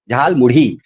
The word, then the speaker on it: झालमुड़ी: इसका इसका उच्चारण ध्यान में सुनिएगा। झालमुढ़ी झालमुढ़ी जो है वो बंगाल और गहरा रंग जो है वो दक्षिण भारत के लिए बहुत ही सामान्य है।